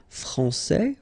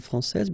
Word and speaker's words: français: Okay, so we've got a little bit the same situation here as we had previously with français and française, because we don't pronounce the final S in français, and it's exactly the same thing.